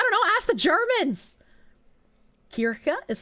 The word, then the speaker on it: Kirche: But you didn't spell it Kirche. Kirche is church, and Kirsche is cherry.